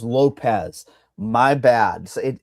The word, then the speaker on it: Lopes: And I think if you like Diego Lopez um or Lopes, however you I still don't even know how you say his name. Well, I see. Come on, Mike. Come on, man. It is Lopez.